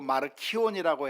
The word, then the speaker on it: 마르키온: 마르시온이라고 불러도 되고 마르키온이라고 해도 되고 뭐 발음은 뭐 이렇게 저렇게 해도 되겠는데, 이 사람은 성경과 관련된 이단입니다.